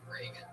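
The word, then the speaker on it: Regan: Not like Ronald Reagan. It's announced like Ronald Reagan, but there's no A in that. Follow him on Twitter at Patty Reagan.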